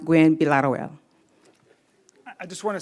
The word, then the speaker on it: Gwinn-Villaroel: But it is pronounced Gwinn-Villaroel. So it's actually pronounced Gwinn-Villaroel.